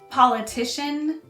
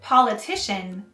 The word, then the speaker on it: politician: s at the end second politics and politician have the stress on the first syllable and political has the stress on the second syllable politics politics politics politics